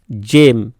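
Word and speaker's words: gem: উচ্চারণ বর্গীয় জ হয়, যেমন জি ই এম, জেম, জি আই এ এন T, giant, giant. দেখো বর্গীয় জ আসছে, জি এর উচ্চারণ বর্গীয় জ আসছে, ঠিক আছে।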